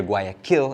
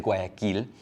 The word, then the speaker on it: Guayaquil: Sorry for those of you who hear Guayaquil and assume that I mean kill as in kill, but it's just the way I pronounce it in English, but it is Guayaquil in Spanish when you pronounce it.